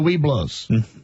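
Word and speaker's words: Webelos: Then you go to the Weeblos, okay? Then you go to Boy Scouts. That's the thing. Look up Weeblos. Okay. That's the thing. Okay. Yeah. It's spelled differently than how it's pronounced.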